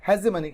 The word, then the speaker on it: hegemony: Indian pronunciation में इसको हेगेमनी बोलते हैं और वेस्टर्न प्रोनाउंसिएशन के हिसाब से उसको हेजेमनी कहेंगे।